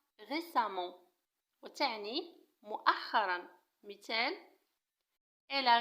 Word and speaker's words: récemment: récemment نفس الشيء تكتب récemment وتنطق récemment وتعني مؤخرا.